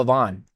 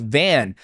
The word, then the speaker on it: Van: I I was calling him Joshua Avon. Then somewhere I heard somebody call him Joshua Van. Somebody said Van. And then production got on my ear. He goes, "It's pronounced Van."